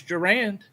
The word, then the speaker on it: Gerand: However, Curtis Gerand, I looked it up, that's how it's pronounced on the pronunciation guide.